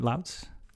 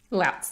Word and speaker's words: Lautz: Did I pronounce that right? Lautz? Lautz, yes.